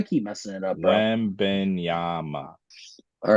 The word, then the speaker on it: Wembanyama: Wembenyama.